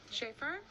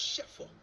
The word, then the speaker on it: Schaefer: Schaefer? Schaefer? It's pronounced Sheffer.